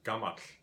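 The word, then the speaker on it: gamall: Wherever there's a double L in modern Icelandic, it's pronounced as a TL, so gamal.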